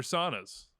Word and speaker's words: sauna: score in 111 degree heat Finns love their saunas right this was one I was hoping was